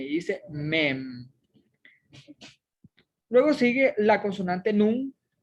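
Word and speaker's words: מֵם: Luego sigue la consonante mem, precisamente una mem y una seré, forma la sílaba me. Y al final está una M final, que es una mensofit, que simplemente tiene el sonido de una M. Dice mem.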